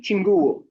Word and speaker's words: Chinguwo: Chinguwo.